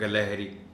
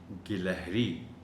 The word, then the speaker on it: گلہری: میں، وہ ہے گاف۔ بہت سے لوگ گاف کو زبر کے ساتھ پڑھ جاتے ہیں، گلہری، جبکہ صحیح تلفظ ہے کہ گاف کے نیچے زیر ہے اور یہ پڑھا جائے گا گلہری، گلہری۔ شرم، یہ انہی